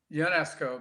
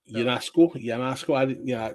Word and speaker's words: Ionesco: Yeah, I think it's UNESCO, but I'm not sure. UNESCO. Sorry, I know it's a French name. We should actually ask our French co-host to pronounce it properly. Well, it's actually Ionesco.